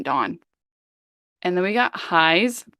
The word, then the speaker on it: DVWN: to be in Pentagon this is dvwn Dawn and then we got